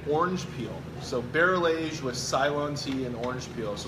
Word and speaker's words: Ceylon: So barrel-aged with Ceylon tea and orange peel. So my questions were like, so how do you say it? Salon. Ceylon. Yeah, Salon tea. It's okay. Ceylon. Yep. Like Salon sapphires.